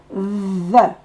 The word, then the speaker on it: the: The, je vous rappelle, on met la langue entre les dents et on dit Z. The.